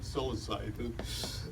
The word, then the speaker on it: psilocybin: In England, they call it psilocybin. In the United States, we call it psilocybin.